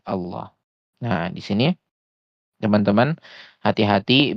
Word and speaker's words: Allah: Nah, di sini teman-teman hati-hati biasanya terjebak dengan ee latin ya seperti itu. Misalkan latinnya o misalkan ee maka diucapkannya seperti orang yang monyong gitu. Nah, ini keliru ya. Contohnya misalkan ee Allah gitu, Allah gitu ya.